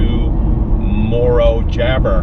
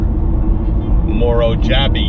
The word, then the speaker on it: Morro Jable: head south to Morro Jabber, Morro Jabby, Morro Jabbe, depending on who's pronouncing it.